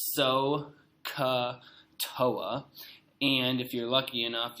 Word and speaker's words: SOHCAHTOA: This is SOHCAHTOA, pronounced SOHCAHTOA.